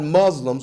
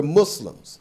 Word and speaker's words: Muslims: Muslim in word and not even pronouncing the word correctly that's how you know they don't know what they're talking about because we're not Muslims we're Muslims so s-sound but just just to